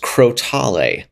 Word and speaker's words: crotale: there um who uh confirmed that it is pronounced crotale um that is the pronunciation now we know